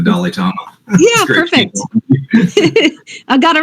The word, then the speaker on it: Dalitomma: Just to get your name right, Dalitomma, am I pronouncing that right? You got it. It's like the Dalai Lama, but they call me the Dalitomma.